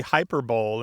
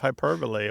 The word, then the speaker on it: hyperbole: the number of people who say hyperbole instead of hyperbole, or infrared instead of infrared.